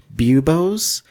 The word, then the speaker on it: buboes: frogs or leeches on the buboes is that how that's pronounced yeah yeah I think what bubonic stands